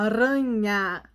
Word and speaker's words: aranha: quer limpar a garganta então é diferente quando a gente pronuncia a arranha o som é na ponta da língua e o ferramentas parece que sai lá da nossa garganta sintam a palavra sintam